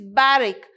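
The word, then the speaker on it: barrack: it called it is called barrick see the pronunciation it is barrick it is used in your novel right the novel starts with the word barrick there so in the first few sentences you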